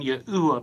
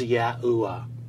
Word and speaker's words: Yahuwah: Tetragrammaton was articulated as Yahuwah. What we find is the first two letters of the divine name Yod and He are always sounded out as Yah throughout our first timeline, and then Yeh through this second timeline.